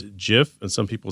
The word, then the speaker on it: GIF: record straight he goes it's GIF like Jiffy and I've had people